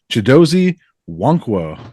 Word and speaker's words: Chidozie Nwankwo: And I think I said it right that time, right? Oh yeah, yeah, you got it down pat. Awesome. You got the silent N there, so it's a little bit confusing for some, but I know Buff fans